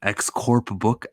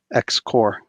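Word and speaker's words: X-Corps: promised to do an X core puck at the final issue of her captain that's that you can still read her in February's X Corp X Corps you don't pronounce the P you don't pronounce the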